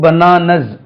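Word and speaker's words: bananas: பனானா ஐ பாட் டூ பனானாஸ் z என்று உச்சரிக்கணுங்க ஐ பாட் எ பனானா ஐ பாட் டூ பனானாஸ் நம்ம சொல்றது ஐ பாட் எ பனானா ஐ பாட் டூ பனானாஸ் பனானாஸ் இப்படி சொல்றீங்க நாஸ் இப்படி சொல்லக்கூடாது ஐ பாட் ஐ ஹேட்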